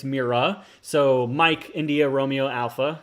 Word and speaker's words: Mira: here in a second it's not mirror it's mira so mike india romeo